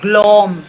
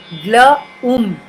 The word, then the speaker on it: Glaum: It's not pronounced as O, not glom, no, glaum, glaum.